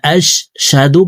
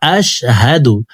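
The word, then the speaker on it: أَشْهَدُ: ওয়া আশহাদু আ ওয়া আশহাদু আন্না মুহাম্মাদান ওয়া আশশাদু পড়া যাবে না। ওয়া আশহাদু ওয়া আশহাদু আনা মুহাম্মাদান আদুহু ওয়া রাসুলুহ আইন হরফকে হলকের মধ্যখান থেকে উচ্চারণ করব।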